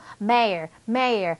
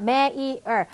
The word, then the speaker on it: mayor: mayor. 자, 영어로는요. mayor. 이게 미국 발음인데 mayor. 그런데 영국에서는 이거 may. 이 삼음절이 영국에서는 이름절로 바뀌어버립니다.